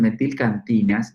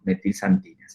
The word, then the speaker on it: metilxantinas: las metilxantinas sin vestir xantinas se escribe con x algunos dicen mentir cantinas y otros decimos metilxantinas se dice bien y acá hay dos